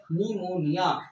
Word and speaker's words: pneumonia: लिखा गया है निमोनिया लेकिन दोस्तों जब पढ़ने वक्त हम पी को साइलेंट लेते क्यों क्योंकि ये पी जो होता है दोस्तों पी दिनो करता है ओनली प्रज्वल कतरे को यह पी का कोई भी रिलेशन तुम्हारे निमोनिया से नहीं है इसलिए पी को बोला गया साइलेंट तो ये हो की